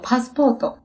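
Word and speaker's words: パスポート: 빠 말고 파스포토.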